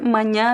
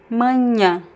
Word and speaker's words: manhã: And the next word, manhã, means morning. Manhã.